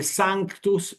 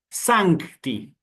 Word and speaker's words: sanctus: Porque es importante para una correcta pronunciación que se escuche esta letra C que pueden ver aquí. Sancti, ¿sí?